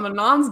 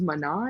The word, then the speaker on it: Manon: French version yeah but it's like the last n wouldn't even be pronounced it's like man but they don't say like that anyway uh anyway I won't speak to that but man Manon whatever she's one of